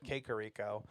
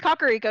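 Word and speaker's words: Kakariko: he does it's not he's like kakaro Village and I would always said kico it's kakaro yeah I knew that one which makes sense because if in Japanese it would be pronounced kakaro so I mean I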